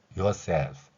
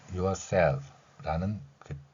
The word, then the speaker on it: yourself: 우리말 you에 해당하는 발음이 영어에서는 정확하게 글자 하나로 표현할 수 없기 때문에 you처럼 표현되어 있고요. 다음에 e는 어로, r은 리을로, 그래서 your 혹은 your 이렇게 발음할 수 있죠. s는 시옷으로 했고요. e는 l은 리을로 했습니다. 그리고 우리말에 없는 소리인 영어의 F 소리는 피읍 아래 작은 동그라미를 친 글자로 나타냈습니다.